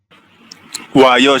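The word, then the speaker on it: 와요: Wayo, Sam. Ya, jadinya adalah wayo. Digabung ya. O dengan A jadi wa sama dengan akhirannya yo seperti ini. Wayo. Ya, artinya datang.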